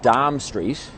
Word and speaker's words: Dame Street: just away and Dame streets is an abyss pronunciation of Dom Street and there was a literal dime here the